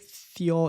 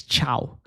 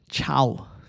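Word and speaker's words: Thiaw: Not having a go at you, but I think Theo is pronounced as Chow. Also, it's Chow.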